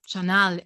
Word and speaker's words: Sanyal: So even my second name, Sanyal, would be pronounced Chanal in India, but it was kind of Germanified.